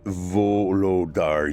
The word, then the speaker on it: Volodar: "It's Volodar, you cretin, not Voldemort. I am a vampire.